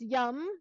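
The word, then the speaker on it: yam: they don't do that the sound here is Yum we all love that sound yes yum yeah so you think about when you say that yum where's the Yum Sauce again spelled y a m and let's so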